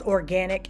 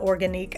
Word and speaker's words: Organique: Now, why nobody told me that the brand is pronounced organic and not organique?